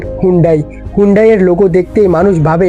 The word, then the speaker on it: Hyundai: আর অনেকেরই প্রোনাউন্সিয়েশন নিয়ে কনফিউশন থাকে, অনেকে এটাকে হুন্ডাই বলে কিন্তু কোরিয়াতে এটাকে হুন্ডে বলা হয়।